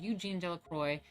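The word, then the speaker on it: Eugène Delacroix: two major artists, Ingres, the neoclassical draftsman, and Eugene Delacroix, 1798 to 1863, the romantic colorist.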